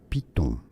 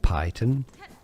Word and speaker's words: piton: Yes, this is so a word originally from French, and in French it's piton. Piton. This is why in English it's normally pronounced piton, not python.